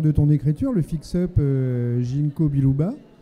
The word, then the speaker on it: ginkgo biloba: ton écriture le fixe ginkgo biloba que je prononce correctement chez un c'est pas ginko biloba et donc c'est ce